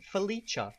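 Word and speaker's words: feliĉa: it as happy so the word for happy is felicha felicha and it's spelled f e l i c with a little hat on top of it a felicha now just so you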